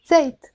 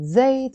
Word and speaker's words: زيت: And in the Lebanese dialect, we can also pronounce it zayt or zayt. That y sound, a lot of times we pronounce it as a e, zayt.